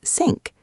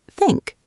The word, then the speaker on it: think: Some people might say it like sink. This can be confusing. The right way is think. Can you try it with me? Think.